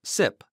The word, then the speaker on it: CYP: has cytochrome p450 interactions condensed as cyp-450 and pronounced sip like sipa drink cymetidine's brand tagamet is an